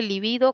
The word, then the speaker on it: libido: Existe también, este es lívido, que es esdrújula, pero también existe libido como grave, y esa se escribe con B grande o B normal, como lo queramos llamar, ¿no?